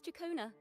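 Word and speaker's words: Ciaccona: My name is Chacona.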